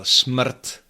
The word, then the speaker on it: smrt: Let's take, for example, smrt and čtvrt. Smrt, yeah, this one is a little bit easier. So again, we have sm, smr, smr, smr, a nice crisp r, smr, smr, and t at the end.